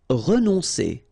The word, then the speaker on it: renoncer: Renoncer. Okay, O and N together. On, renoncer. Renoncer.